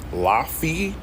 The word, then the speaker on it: Lafayette: I don't give a fuck if it's not an E after the fucking F. It's Lafayette. Lafayette, nigga, not Lafayette or Lafayette. Nigga, no, bro. Who the fuck is teaching y'all this shit?